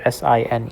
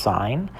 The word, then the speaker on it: sine: This is not sin. It's pronounced sign.